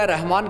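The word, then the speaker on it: الرحمن: " अर-रहमान," देखें सूरह अर-रहमान कैसे शुरू होता है? हम "अर-रहमान" पढ़ते हैं, "अल -रहमान" नहीं, इसलिए 'रा' भी हुरूफ़-ए-शम्सी में से एक बन गया।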